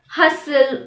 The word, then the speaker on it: hustle: Usually anything ending in S-T-N has a silent T. For example, listen, moisten. Also, the words ending in S-T-L-E are likely to have a silent T in them. For example, hustle, whistle, castle.